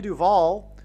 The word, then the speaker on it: Duvall: And so Shelley Duvall, her name rhymes with Hall, and Paul Simon and Shelley Duvall met on the movie set of Annie Hall.